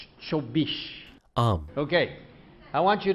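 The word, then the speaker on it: চব্বিশ: Now how do you say 24 in Bengali? 24. Chobish.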